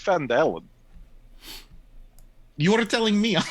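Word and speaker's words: Phandalin: there will be at faladin i think it's fandalan you are telling me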